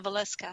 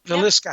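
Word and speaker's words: Villisca: Is it Velisca House? Velisca? Kimberly, help me with that word. Yeah, the Valeska house. Valeska house.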